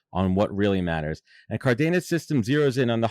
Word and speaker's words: Cardenas: But she always said that it was Cardenas, which it is.